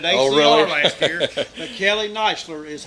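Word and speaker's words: Kneisler: that you mentioned grandson of Tom CH Kelly kler and uh had the opportunity actually that's Kelly nler oh I'm Sor it's supposed to be k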